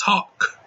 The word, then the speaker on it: Hawk: Bull Hurley, he'll pronounce his last name as Hawks, but everybody else, even Stallone's character himself, it's Hawk, no S, Hawk.